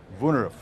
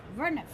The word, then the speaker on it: Woonerf: Well, it comes from the Dutch, and it's, if you think of it as V-U-N-E-F, Woonerf. Woonerf.